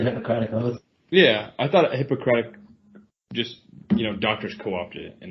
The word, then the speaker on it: Hippocratic: Yeah, I mean in the doctor sense, Hippocratic. Yes. Not hypocritical. You have to emphasize that third syllable. Yeah, Hippocratic.